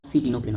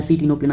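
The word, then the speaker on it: Ctenoplana: सर टीनोप्लेना होता है, सी टीनोप्लेना बच्चों, आई नो, मैं सी टीनोप्लेना इसलिए प्रोनाउंस कर रहा हूँ, सी टीनोप्लेना का सी और कोम जेलीस का सी, ओके, ये कंबाइन होता है।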